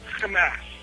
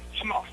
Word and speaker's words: Hamas: I often see people using the Israeli pronunciations of Arabic term terms um like Hamas or hisbah you know these these are all Israeli accents you know in Arabic you say Hamas you can do it